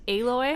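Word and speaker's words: Aloy: she's uh what's her name alloy alloy is pronounced alloy okay okay Lloyd in horizon zero Dom so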